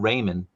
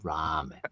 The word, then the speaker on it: ramen: It's not Raymond. It's ramen.